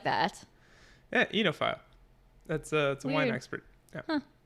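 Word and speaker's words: oenophile: voice enile enile I don't like that yeah enophile that's a a expert yeah huh well apparently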